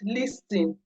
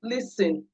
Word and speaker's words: listen: them, and they remember, oh, this is not pronounced plumber, it's pronounced plumber. It's not pronounced listen, it's pronounced listen.